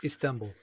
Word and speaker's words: Istanbul: Constantinople, later Istanbul, is that the correct Yeah, pronunciation of Istanbul is Istanbul? correct. It's Istanbul.